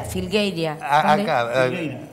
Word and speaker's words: Filgueira: no este figueria filera filgueira filgueira a mí me Se nombra se escribe de una forma y se lee de otra forma este realmente arriba de